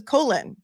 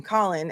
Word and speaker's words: Colin: older man and um he says colon like as in Colon Powell, I guess, but Colon Powell Colon Powell does spell his name the same way. So I can see the confusion. However, everyone else calls him Colin. And everyone else who's familiar with this case knows that his name is Colin, but Cosg Gro, go